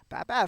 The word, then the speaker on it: Bab: Bab Bab.